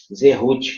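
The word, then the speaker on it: זכות: Se escreve Zerut. Fala Zerut com Z, significa honra e mérito.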